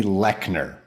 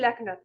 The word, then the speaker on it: Leochner: It's Leckner. Yeah, Leochner.